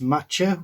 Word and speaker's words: Macka: So it's spelt Macca, but it's pronounced Matcha, which means cat.